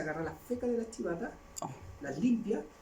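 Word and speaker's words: civeta: Y por ejemplo, no sé si ustedes conocen las chivatas les suenan civata, se escribe civata con C, con B corta.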